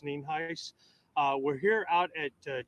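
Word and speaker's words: Nienhuis: Sheriff spelled n-i-e-n-h-u-i-s and it's pronounced name heis uh we're here out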